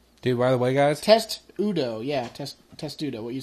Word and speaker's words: Testudo: I'm pretty sure it's Testudo. It's definitely not what I said. You think it's test? Test, yes. I believe it is test.